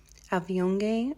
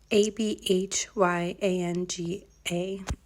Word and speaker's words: Abhyanga: there's a proper name that I can never pronounce correctly in Ayurveda. It's like Avyonge or something. Let me look. Abhyanga.